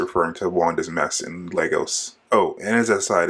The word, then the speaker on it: Lagos: to Wanda's mess in Lagos. Oh, and as an aside, it's really annoying that throughout this episode they keep pronouncing Lagos wrong. They keep saying Lagos.